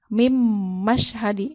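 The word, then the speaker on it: مِنْ مَشْهَدِ: Mim mashhadi. Padahal kalau misalnya seharusnya dibacanya kan min. Karena dia bertemu dengan huruf idgham bigunnah, jadi dia masuk ke huruf berikutnya.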